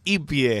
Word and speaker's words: hippie: un hippie una hippie se escribe hippie se pronuncia y pie y pie Exactamente no